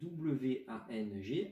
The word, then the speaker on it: Wang: Dans notre pinyin que je vais vous apprendre, ça s'écrit W-A-N-G avec un ton chinois. On va bientôt voir les tons. Donc ça se prononce Wang et ça s'écrit W-A-N-G.